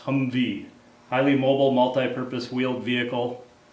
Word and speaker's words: HMMWV: and my wife 1987 military hmm WB pronounced Humvee highly mobile multipurpose wheeled